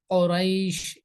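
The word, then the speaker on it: قريش: যেমন সূরা কুরাইশের শুরুতে আছে বিসমিল্লাহির রহমানির রহিম, লিইলাফি কুরাইশ, তাহলে এটা হচ্ছে কফ, কুরাইশ এভাবে উচ্চারণ হবে।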